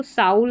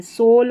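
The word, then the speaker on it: soul: जैसे इसको साउल नहीं पढ़ेंगे। सोल पढ़ेंगे क्योंकि एल है।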